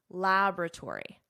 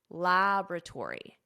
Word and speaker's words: laboratory: Notice the pronunciation here, because there is a difference between American English, which I teach, and British English. In American English, laboratory, laboratory.